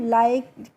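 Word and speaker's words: like: Rule आपको समझना है कि जब लास्ट में किसी भी स्पेलिंग के इ होता है तो हमें उसको नहीं प्रोनाउंस करना होता है। इसीलिए इसे हम लाइक के या ली के नहीं पढ़ते हैं। क्या पढ़ते हैं? लाइक।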